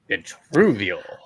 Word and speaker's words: Vitruvio: front in the new I was pronouncing it wrong, Vitruvio blockchain, you know. So Vitruvio. Yeah.